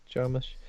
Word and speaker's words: Jarmusch: Jarmusch?